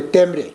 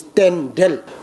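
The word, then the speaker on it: tendrel: Local language pronunciation, we used to say temre, but actually it's tendel, patitu samopat in Sanskrit. In our language, we say tendel.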